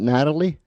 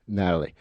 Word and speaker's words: Nathalie: name right is it Natalie Natalie right Natalie how see I get brain cramps every now and then I no it's okay listen it's the H that throws people off doing my whole life